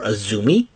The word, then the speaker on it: AZM: her Eliminator matchup against AZM, or Azumi, as it's pronounced, Azumi from Stardom.